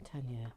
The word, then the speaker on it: Tanya: was pronouncing her name, Tanya, now Tanu, nel correctly. And this is what she says. It's Tanya, she says, with an ah, quite a long.